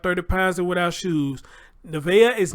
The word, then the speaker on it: Nevaeh: Her name is Nevaeh.